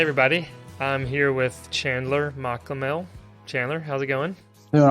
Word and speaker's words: Machamehl: Machamehl.